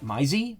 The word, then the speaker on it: Maisie: It's pronounced Maisie.